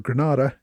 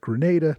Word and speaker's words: Grenada: call and complain that I should be calling it Grenada not Granada but as far as I can tell either pronunciation is acceptable anyway McCartney who had